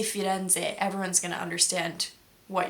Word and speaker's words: Firenze: It's not Firenze, it's Firenze. It's a small thing, but I saw a video of myself saying it wrong the other day and it really irked me. So, something to look out for. It's one of those things that's more or less the same sound, so they don't really teach you when you're learning Italian, "Oh, this actually is a different sound."